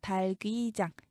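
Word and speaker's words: 닭의장: 여기서 중요한 건 닭게장이 아니죠. 리을 기억이 다 살아있어요. 발음이 달게장, 달귀장 이렇게 말해야 합니다.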